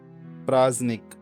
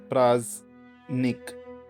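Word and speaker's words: праздник: Praznik. Praznik. Stress is on the first syllable. Praznik.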